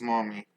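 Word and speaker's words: Mami: Kaza, ends up being dumped by his girlfriend, Mommy. Yes, that's her name. It's M A M A Mi, not the other way. But yes, it is pronounced Mommy.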